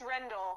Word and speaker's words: Rendell: say her last name, but is it Joanne Rendell? It's Rendell.